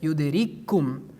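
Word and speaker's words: يُدْرِككُّمُ: Based on idgham, we pronounce it yudrikkum.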